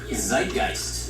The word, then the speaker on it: Zeitgeist: Zeitgeist.